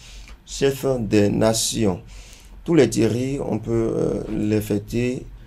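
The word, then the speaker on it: Théry: Nous avons T-H-E-R-Y, comme je le disais, ça se prononce également Thierry.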